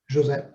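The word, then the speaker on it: José: day you should say how do you say your first name jose or jose jose it's portuguese okay thank you seeing you uh looking forward to seeing you in chat.5.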